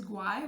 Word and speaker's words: guay: So the word is guay, which means cool, nice, and it's a G-U. In that case, you have gu sound, G-U. Again, it's a strong G, and you pronounce the letter U.